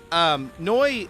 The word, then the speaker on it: Neu: No, it's spelled like NEU. N-E-U. Oh, that's N-U-E. Yeah, it's it's Noi.